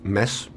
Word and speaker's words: Mads: It's a silent D. It's mess.